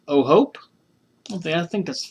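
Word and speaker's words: O'Hoppe: O'Hope.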